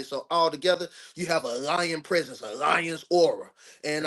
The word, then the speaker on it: Lion: My name is Lion. L I O N. Just like the king of beasts, aura.